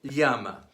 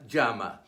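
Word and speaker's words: llama: o and L U the pronunciation of the Double L varies throughout the Spanish-speaking world Listen to the different pronunciations of the following Spanish word Castilian Spanish Yama many parts of Spain and Latin America Jama Argentina and Uruguay Shama M the Spanish word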